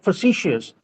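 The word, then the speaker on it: facetious: word I want to ask you sir is facicious. So what does it mean? So what is the correct way to pronounce this word? And what does facicious? It should be pronounced as facicious.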